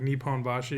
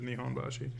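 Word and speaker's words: Nihonbashi: Well, cuz when we were in in Japan like nepon bashi was neponbashi sometimes. In some other places it was neihon bashi.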